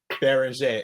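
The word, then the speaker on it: Beringer: How do you say his last name? Excuse me. Binger or is it Behringer? like that because I Baron Jay. Okay. Baron Jay. Okay. Joan Baron Jay like that simply because they knew you don't even Okay.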